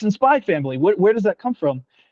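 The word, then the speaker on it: SPY×FAMILY: just spy family so you can pronounce it as spy family but the x is just there as a marketing as something as something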